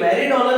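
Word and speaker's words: meridional: इसको शॉर्टकट में MER लिखा जाता है, मेरीडोनल, आई साइलेंट है, तो ये मेरीडोनल बोला जाता है।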